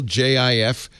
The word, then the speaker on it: Jif: side they're normal label jif creamy peanut butter soft g pronunciation on the far side